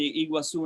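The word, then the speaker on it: Iguazú: the 1930s uh the iguazu national park and brazil and iguazu national park in argentina they you pronounce it was the same but you write differently and the two parts were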